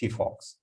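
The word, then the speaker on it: phyphox: And there's another one is Fifox. It is written as Fifox, but pronounced Fifox.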